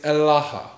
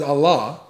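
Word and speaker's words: ܐܠܗܐ: The word in Aramaic is Elaha. Elaha. It's right there on the screen in the Aramaic. The dude pronounced it as Allah, right?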